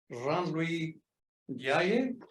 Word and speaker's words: Jean Louis Ndiaye: Professor Jean Louis Ndiaye, I'm pronouncing it correctly?